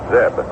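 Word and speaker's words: Zdeb: as a pitch to zeep he takes the strike one and two on on Joe he his last name is spelled zde e d but forget the D It's pronounced Zeb the look to third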